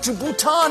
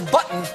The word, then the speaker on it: Bhutan: president those young people are about to get a dose of reality Bhutan as button and mispronounced Nepal as nipple this country you argue